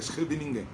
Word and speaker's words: Scheveningen: Ça, je le prononce en néerlandais, Scheveningen.